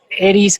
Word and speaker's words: Eris: De hecho, es curioso porque Eris está en Aries y fue descubierta estando en Aries y además se pronuncia Eris, que es casi como Aries en inglés, ¿no?